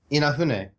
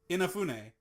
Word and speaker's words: Inafune: What did I say wrong? You're putting like stress in weird places. All right, you say it. Inafune. Inafune. Yeah. Keiji Inafune. Okay, yeah. So I was saying it right the second time.